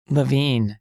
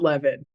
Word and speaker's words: Levin: Levine, sorry about that. That's okay. It's a mistake that most people make because it's spelled Levin. But Levin doesn't rhyme with toilet paper queen. And my family has always gone with Levine.